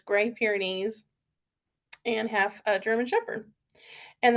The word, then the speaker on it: Great Pyrenees: Let's see, he is half Great Pyrenees, and fun fact, I always pronounce that wrong. I don't know why I always want to say like great, but now I know it's Great Pyrenees and half German Shepherd.